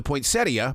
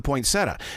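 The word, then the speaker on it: poinsettia: things like for instance up in Montana it's the point seia but here in Charlotte North Carolina it's the pointsetta now is it the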